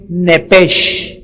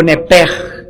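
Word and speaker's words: נפש: Por favor, escríbanla en el hebreo, es nepesh o nepej, como se pronuncia.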